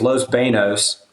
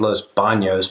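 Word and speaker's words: Los Baños: And then it was Los Banos, which you could also say is Los Banos, but that's not the correct way to say it.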